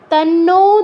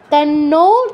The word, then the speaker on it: तन्नो: হবে, विद्महे महादेवाय धीमहि, तन्नो रुद्रः, तन्नो तन्नु तन्न এরকম বলা যাবে না, ওকার আছে খেয়াল করবেন, তন্নো রুদ্রঃ বিসর্গের পর প থাকায় ফয় হসন্ত, রুদ্র প্রচোদয়াৎ ওম।